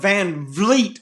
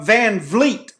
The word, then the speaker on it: VanVleet: would do my write-ups I've always felt it with an F just like you did his name is spelled Van Vleet I was like what